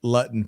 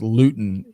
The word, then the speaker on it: Luton: It's always been Luton pronounced in school, although it's pronounced Luton.